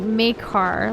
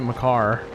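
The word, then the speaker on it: Mekar: out much um McCart this was maker Island like May car like m-e-k-a-r like are you spilling a different Island blue I always pronounced it my car between Poland and side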